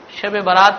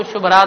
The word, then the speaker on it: شب برات: البراءہ کہا جاتا ہو۔ بعض اوقات دیہات میں لوگ صحیح طور سے تلفظ نہیں کرنے کی وجہ سے شب برات کو شب رات بھی کہتے ہیں، تو یہ شب برات کا کیا ہو گیا؟